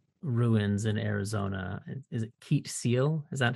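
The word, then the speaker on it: Keet Seel: Is it Keet Seal? Is that how it's pronounced? It is Keet Seal, yeah.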